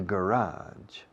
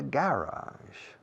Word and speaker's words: garage: The blue car is in the garage. Mis amigos británicos dirían, the blue car is in the garage. En vez de garage, dicen garage. Acentúan la primera sílaba. Los americanos y canadienses acentuamos la segunda.